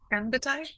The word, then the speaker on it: Ganbaatar: Ganbaatar? Am I saying it right? That is that is correct.